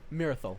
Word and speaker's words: Mirthal: How do you say your name again? Marathos? Merithos? Yeah, where. Or is it Mirthal? Mirthal. Mirthal. Yeah. All right, Mirthal.